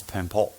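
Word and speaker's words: Bön: at the time was Pönpo. You don't look at the Pöns at this time. It's spelled B-O-N, but it's pronounced Pön.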